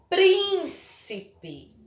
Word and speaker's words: príncipe: A outra palavra foi príncipe. Príncipe. Qual foi a sílaba mais forte? Não foi a antepenúltima? Então, dizemos que essa palavra é proparoxítona.